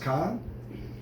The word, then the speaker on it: Caen: But it's pronounced Caen. It sounds like Keen. Yeah, but trust me, they all pronounce it Caen.